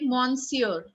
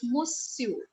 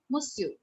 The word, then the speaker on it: monsieur: Something like monsieur, right? But how do we pronounce it in French? We call it monsieur, monsieur, monsieur.